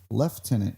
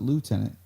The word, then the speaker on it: lieutenant: that can tell me why it's pronounced leftenant over there as opposed to what we pronounce it lieutenant you know here I'm